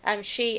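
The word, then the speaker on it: sìth: In Scots Gaelic, it's she, S-I-T-H.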